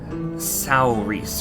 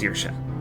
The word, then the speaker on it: Saoirse: It's like looking at the name Saoirse, and it looks like it should be pronounced Saorise or something like that, Saorise, but it's pronounced Saoirse, and that's because I think it's Celtic.